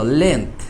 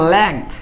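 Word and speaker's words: length: লেন্থ, তাই না? তোমরা আর বলো না লেংথ, এরকম লেংথ কিন্তু না, এটা কিন্তু লেন্থ। তাহলে লেন্থ উচ্চারণ করতে গেলে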